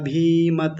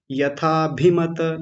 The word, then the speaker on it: यथाभिमत: लिया था यथाभिमत ध्याना आपने क्या बोला था यथाभ भीमत भीमत भीमत ऐसा नहीं यथाभिमत यथाभिमत ऐसा एक बार फिर से ठीक कीजिए यथाभिमत बहुत सुंदर बहुत बढ़िया